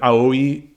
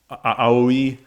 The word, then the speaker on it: Aoi: of AI's uh like AOI AI, I think is how it's pronounced, her um one of her default costumes.